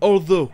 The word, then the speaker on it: although: Comme vous l'avez entendu, c'est le son O, comme si UGH était muet. Vous le trouverez aussi dans un dérivé de ce mot qui est although, qui veut dire bien que.